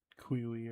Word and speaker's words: queue: Queue is also one of those words that like bugs me on a personal level. Because like that definitely should be a 2-syllable word. There's like 2 instances of UE. We don't say like QE or whatever. You say Q.